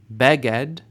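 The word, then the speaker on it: בגד: love Bea with love beged initial stress a garment Evan a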